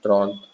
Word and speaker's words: trente: So whenever you write like Tron, you write Trente, you pronounce it Tron, like you used to do in school.